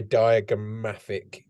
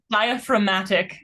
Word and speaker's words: diaphragmatic: What do you mean with, did you say diagrammatic? Is that what you said? Diaphragmatic. I know what you were saying, not diagram.